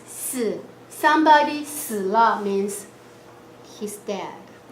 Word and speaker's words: 死: 4, it's also the same sound. You pronouncing the word of die and dead. It's 死.